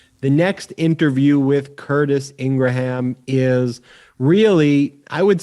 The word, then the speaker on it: Ingraham: to have on because most people pronounce her name laura ingram but as you'll find out it's ingraham it's actually ingraham as curtis told us